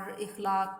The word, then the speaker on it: اخلاق: اپنا بھی تجربہ ہوگا، بہت سے لوگ اخلاق کو اخلاق بولتے ہیں اور اخلاق پڑھ جاتے ہیں، جبکہ درست تلفظ جو ہے وہ ہے اخلاق۔ اسی کے وزن پہ